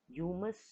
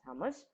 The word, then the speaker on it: humus: content of humus right umus could be a pronunciation but we call it uh as hummus in british english so hummus is actually